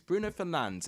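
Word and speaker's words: Bruno Fernandes: on oh bruno fernandez i always mispronounce the name it's bruno fernandez it's not fernandez so i'll boast as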